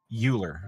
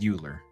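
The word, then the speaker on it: Euler: OA yes I know they went with the weird pronunciation I think it was a Frenchman right could be uler it's pronounced eer uh rotation what did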